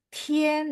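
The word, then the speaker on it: tian: nih satu lagi Tien jadi dia pasti i a n karena di bahasa Mandarin Tidak ada i e n tinin enggak ada memang bacanya agak e gitu ya Tien tapi tulisannya enggak ada i e i e n enggak ada ya Jadi silakan e kalau misalnya tergoda gitu ya untuk tulis ingat Oh ya Li bilang ya enggak ada t i e n tapi adanya i a n memang bacanya i e n gitu ya Wah banyak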